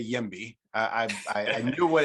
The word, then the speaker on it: YIMBY: what it stood for i didn't know the uh if it was if it was just a uh just an acronym or if you pronounce it like that so that's a good